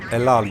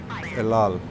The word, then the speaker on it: El Al: El Al, you see, it is pronounced correctly sometimes. El Al.